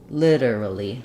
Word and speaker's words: literally: of something litter so literally literally um just try to stretch and lengthen on your Li and then your dur dur are going to be really fast that is one strategy